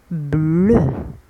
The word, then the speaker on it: bleu: bleu EU ينطق E. bleu.